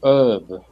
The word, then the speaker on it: herb: like this word herb they say herb herb without an H uh h letter not uh